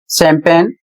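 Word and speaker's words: champagne: अगला शब्द है सी एच ए एम पी ए जी एन ई शैंपेन।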